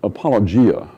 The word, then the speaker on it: apologia: But it comes from the Greek word apologia. Apologia, that's spelled A-P-O-L-O-G-I-A.